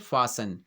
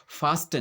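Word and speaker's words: fasten: हम क्या बोलते हैं, फासन। फास्टन नहीं बोलते हैं।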